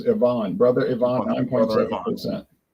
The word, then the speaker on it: Ivan: ABV brother Ivon 9 the way they pronounce it in Russia as Ivon brother Ivon 9.7% Ivan Ivon Ivan yeah Ivon